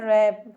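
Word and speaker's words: wrap: wrist wrist में भी देखिए यहां पर डब्लू साइलेंट है डब्लू आर आई एस टी क्या हो गया रिस्ट यहां लिखा है रप डब्लू आर ए प क्या लिखा है रप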